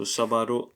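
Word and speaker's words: sábado: an accent somewhere yes there is an accent on the first a so sabaro Antonio ego perfect so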